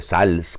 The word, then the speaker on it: Sales: asís san francisco de sales o de sales como se debería de pronunciar aún y cuando el